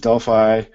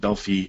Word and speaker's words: Delphi: I know in Europe they pronounce it Delphi, and I will accept that that's probably the correct pronunciation because it has come from Greece. And that's what they pronounce it there is Delphi.